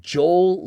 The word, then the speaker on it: Joel Linder: No, his name is Jo as in Johan. Johannes Joe. It's me Joe. Joe. Hola amigos. What's Joe?